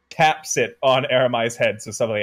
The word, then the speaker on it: Aramai: How do you pronounce Aramai? Aramai.